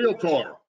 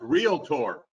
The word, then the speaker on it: REALTOR: to talk about you real Torah it is pronounced real tour not realtor a realtor real tour